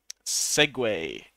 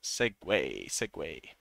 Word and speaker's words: segue: Segue. It's spelt very irregularly, but it's from French, I guess. Segue.